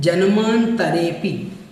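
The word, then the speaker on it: जन्मान्तरेऽपि: आपको बोलना है जन्मांतरेऽपि, तरेपि, इस प्रकार से इसको बोलना है और आप 2-3 बार बोलेंगे तो आपका इसका उच्चारण ठीक हो जाएगा।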